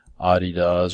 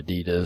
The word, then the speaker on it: Adidas: For shoes, it's Skechers maybe, Adidas or Adidas, however you want to pronounce that, Columbia maybe, a few others, right?